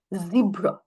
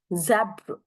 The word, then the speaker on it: zebra: and not the stress so zebra will take the first Z would take the prominent zebra zebra right and over here if it is British it is going to zabra zabra zebra and zabra right so